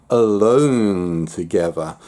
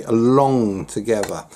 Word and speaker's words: Along Together: I always keep on wanting to pronounce it Alone Together, but it's Along, A-L-O-N-G, Along Together.